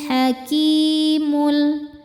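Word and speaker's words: الحكيم: Kemudian ada alif lam qamariyah karena alif lam ketemu huruf qamariyah yaitu ha. Maka lam dibaca idhar atau jelas, idhar qamari. Wahuwal hakimul. Ki hukumnya mad tobi'i dhohiri karena ada ya sukun sebelumnya kasrah. Cara bacanya panjang 2 harokat.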